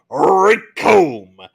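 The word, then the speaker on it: Recoome: Oh, oh, The name's Rickomb, and it rhymes with doom, and Yo.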